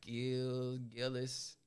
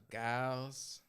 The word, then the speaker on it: Giles: People like Gillis. Yeah. Giles. When I seen it, I was like, oh, that's Giles.